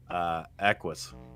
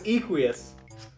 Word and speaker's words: Equus: How do you pronounce the horse in Ark? Equus. No, it's Equius.